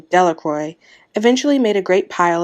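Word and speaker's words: Delacroix: Jones and Dicky Delroy the villagers pronounced his name Delroy eventually made a great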